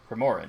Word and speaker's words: Primoran: How do I pronounce that? Morgan. P-R-I... Morin, that's correct. Primoran, yeah, Primoran.